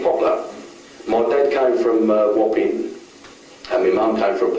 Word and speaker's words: Wapping: Notice that he pronounces it Wapping, alveolar nasal at the end.